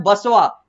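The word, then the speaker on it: Basava: जिसका नाम नाम है बसवा स्पेलिंग लिखा हुआ है बी ए एस ए वी एच एन ए इसको हम लोग भक्त बसव पढ़ेंगे संत बसव पढ़ेंगे यानी कि बसव की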